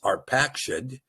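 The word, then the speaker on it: Arphaxad: Now, verse 24 here says, Arafazed, and you might remember his pronunciation is arpaced, but that again is a Maserite construct that destroys the ability to see the fatherhood of the lion.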